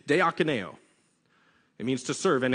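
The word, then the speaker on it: διακονέω: too much time trying to learn how to pronounce this greek word and it's it's de akineo it means to serve and and it's it's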